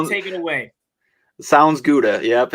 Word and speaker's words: Sounds Gouda: Jordan Olson, the Sound Gouda. Did I say it right? I was messing it up all day. If I didn't say it right, you take it away. Sounds Gouda.